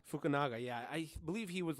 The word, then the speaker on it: Fukunaga: Yeah, and I believe Cary how do you pronounce it? Cary Fukunaga. Fukunaga, yeah.